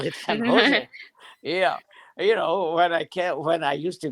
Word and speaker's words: San Jose: We call it San Jose.